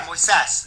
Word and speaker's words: Moises: Hey, so today I am so honored to have our guest, Moises. Is that how you guys pronounce her name, Moises? Yeah, Moises, the accents on the final syllable.